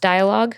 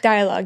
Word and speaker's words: Dialogue: Um your label it's pronounced Dialogue. Dialogue, yeah.